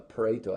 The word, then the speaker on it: Pareto: 1896, this uh Italian economist, his name was Pareto, I think that's how you say it.